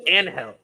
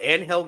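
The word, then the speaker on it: Ángel: that's a match that's I thought it was anhel yeah remember when they used to pronounce it anhel Garza the only person I ever in wrestling watched him who was white call him onel and and it's like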